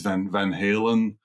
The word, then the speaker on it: Van Haren: our name was that Van Haren is difficult to pronounce in Asia because they don't pronounce the R. So our real name is Van Halen.